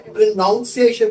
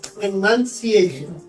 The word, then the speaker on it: pronunciation: Though there's an O, you don't say pronunciation, but pronunciation.